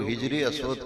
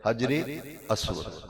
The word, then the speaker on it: حجر اسود: کہتے ہیں اور حجر، کئی لوگ ہجر اسود کہتے ہیں، ہجر کا لفظ غلط ہے، ہجر کا معنی ہے جدائی، ہجر کا معنی اور حجر کا معنی پتھر، صحیح پروننسیشن تلفظ ہے حجر اسود۔ حجر کا معنی ہے